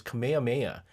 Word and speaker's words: Kamehameha: No, that's not how you say it. It's Kamehameha.